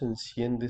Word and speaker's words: enciende: llanura en donde Dios enciende su alegría. Azul avec un S, enciende avec un S aussi. C'est pas azul ou enciende. Ça, c'est la prononciation espagnole de l'Espagne. Donc, attention, on dit toujours S.